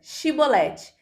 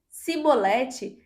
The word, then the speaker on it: chibolete: respondesse que não diziam Então diga chibolete se ele dissesse simbolete sem conseguir pronunciar corretamente a palavra prendiam no e matavam